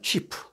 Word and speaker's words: cheap: 중세의 발음은 약간 치프가 아니고요. 현대 영어는 cheap.